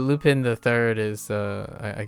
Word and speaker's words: Lupin: to my ears I I don't say lopin but Lupin the third is uh I guess your Kona Lupine Lupin you haven't seen